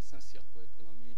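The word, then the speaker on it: Saint-Cyr-Coëtquidan: Yes, but I'm teaching at Saint-Cyr-Coëtre.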